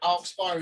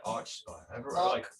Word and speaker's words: Archspire: I say Archspire. Dean Land himself, Archspire. Okay. Yeah, I guess because it's a spire on top of an arch, isn't it? I'm pronouncing it as in like Arch Nemesis.